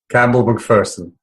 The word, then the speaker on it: Campbell Macpherson: His name is Campbell Macpherson, and I mispronounced it, so please pronounce it correctly. Campbell Macpherson.